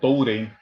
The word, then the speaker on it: Tourém: Cumprimento, então, o doutor Touraine, também a ele, Doutor, me corrija, eu estou pronunciando direito seu sobrenome. Jamais iria corrigir o senhor. Não, pode. É Tourém, Tourém. origem portuguesa.